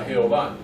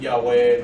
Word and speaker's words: Jehová: Básicamente era Jehová, Jehová. Igual como lo tenemos, ¿verdad?, en la Biblia de español, no es Yahweh, no es ninguna de esas otras cosas.